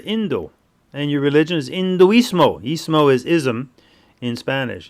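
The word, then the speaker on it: hinduismo: So another interesting thing about the word Hindu or Hindu is that our Latin friends because they don't pronounce the letter H.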